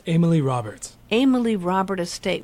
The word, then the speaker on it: Amalie Robert: okay so it's not a lot of people assume that it's a French pronunciation but they're both as American as apple pie and I have to